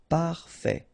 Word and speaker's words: parfait: Final T not pronounced. Parfait.